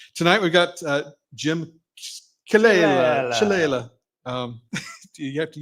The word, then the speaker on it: Ciallella: Tonight we got uh Jim Kala Chala. Um, do you have to use the finger thing? Yeah. To help spicy ball. And what's the American pronunciation? Sala. Okay. Sala.